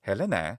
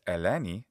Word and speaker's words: Helene: So Helene is the name in classical Attic, and that's Eleni in modern Greek pronunciation.